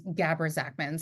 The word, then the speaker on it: Gabra Zackman: Well, the correct pronunciation is Gabber Zachman.